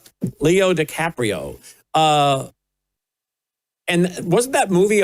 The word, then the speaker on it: DiCaprio: And that was starring Leo DiCapanio. DiCaprio. Leo DiCaprio. Is that how you say his name? Leo DiCaprio.